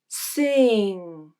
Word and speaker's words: sing: a pure vowel so when i comes before ng think of pronouncing it as e let's take a closer